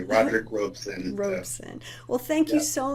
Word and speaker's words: Robeson: that you're you are saying it correctly Roderick Robson Roisin well thank you so much for joining